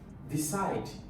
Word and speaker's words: decide: The stress will be on where? Second syllable. Decide.